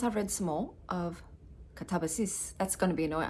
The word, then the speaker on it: Katabasis: And I actually then looked up an interview with the author and she said actually that's how it's pronounced, Katabas.